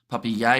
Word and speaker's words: Papier: And paper is pronounced Papier. He is French, says Sean there.